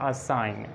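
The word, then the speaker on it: assign: आप देखें एन से पहले जी साइलेंट है, इसको हम पढ़ते हैं साइन, रिज़ाइन, डिज़ाइन, line, campaign, चैंपेन और क्लोन और असाइन।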